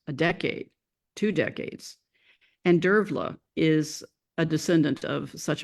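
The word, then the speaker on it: Dearbhla: their children was called debla I used to pronounce it and of course I found later that in Irish it's pronounced derla there were a great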